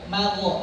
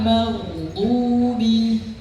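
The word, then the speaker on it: مغضوب: tadi enggak boleh dipantulkan bukan magh magho itu enggak boleh ghairil magdu magdu dia kayak dipanjangkan magdu magdu mengalir magdu bukan magho maghodu nah itu enggak boleh bacanya dipantulkan seperti itu.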